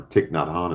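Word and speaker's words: Thich Nhat Hanh: I heard my great Buddhist monk teacher Tahan or Tiknadhan as westerners pronounce him.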